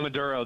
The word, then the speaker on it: Maduro: Yeah, Maduro, the dictator of the socialist hell hole.